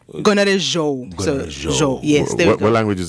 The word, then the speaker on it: Gonarezhou: So I pronounce this right? Gonarezhou? Gonarezhou.